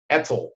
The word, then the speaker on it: ETCSL: I try to pronounce it as an acronym. Etzel. Etzel.